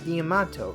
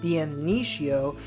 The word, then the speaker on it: Damnatio: always been calling him Diamato, right? Well, it turns out I actually just made a mistake. Someone in my last video commented that the correct pronunciation for his name is actually Damnatio, not Diamanto.